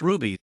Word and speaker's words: RWBY: red vs blue psa rwby pronounced ruby is an anime-styled cg